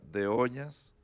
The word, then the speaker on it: Doñas: Bueno, se pronuncia de Oñas, pero en todas partes en el registro aparece como Doñas, entonces ya nos acostumbramos a...